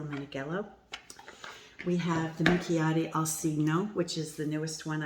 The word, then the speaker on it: Alcigno: Richard Boo, the Minchiate Alcigno, C-I-G-N-O. I think the G is silent, so I think I'm saying it properly. Alcigno.